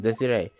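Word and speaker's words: Desirée: She has an accent on the ear, so I'm guessing Desiree.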